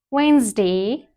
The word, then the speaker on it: Wednesday: Wednesday.